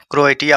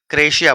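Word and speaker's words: Croatia: लेकिन इसका प्रोनाउंसिएशन क्या होने वाला है, क्रोएटिया होने वाला है, लेकिन इसको पढ़ते क्या, क्रोएशिया पढ़ते हैं।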